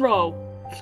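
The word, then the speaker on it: 肉: One row. To meet! For those who are not in the know, with the proper pronunciation and the proper tones, that R-O-U... known as Ro, would mean meat.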